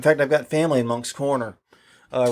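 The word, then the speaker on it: Moncks Corner: in fact i've got family in monk's corner uh right nearby yeah well you know what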